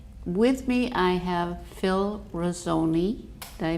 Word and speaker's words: Rossoni: fun and um with me I have Phil rosone did I pronounce it right yes um I have my